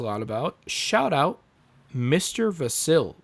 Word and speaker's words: Vasil: Vasil. Mike Vasil, I believe. Vassel. It's definitely Vassel. Anyway, don't even know how to pronounce the dude's name.